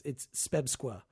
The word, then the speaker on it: SPEBSQSA: well, first of all, it's SPEBSQA if you're trying to pronounce it, but actually it's the Society for the Preservation and Encouragement of Barbershop Quartet Singing in America.